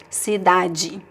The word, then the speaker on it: cidade: Always pronounce the D as a hard D, like de, the syllable de as a hard D, unless it is the last syllable of the word, like in cidade. Then you can always say G, it's fine. Also, some people would say cidade because of the accent.